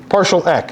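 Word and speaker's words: PartialEq: e is a is a trait if you partial e is how it's pronounced look here if you do RS partial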